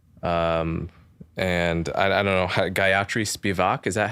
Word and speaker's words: Spivak: So from what it seems to me, your synthesis really includes basically Foucault, Said, and I don't know, Gayatri Spivak, is that how it's pronounced? Spivak, okay.